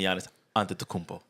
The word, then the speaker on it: Giannis Antetokounmpo: Taking Giannis Antetokounmpo. Hey, you pronounced it right.